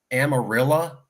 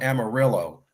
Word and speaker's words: Amarillo: Perhaps you've heard of a town called Amarillo. Yeah, over in California, we call it Amarillo. And I tell them, no, that's not how you pronounce it. That might be how you spell it.